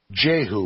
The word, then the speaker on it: Jehu: Jehu, we pronounce it. It was properly pronounced Jehu.